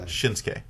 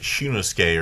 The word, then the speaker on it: Shinsuke: Shinsuke. Shin- You said like Shunosuke or some. You put like 4 extra syllables in there.